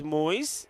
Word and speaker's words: Moyes: So, Moyes, he says it's Moyes. That's the way you pronounce his name.